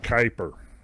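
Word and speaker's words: Kuiper: I think it's pronounced kyper.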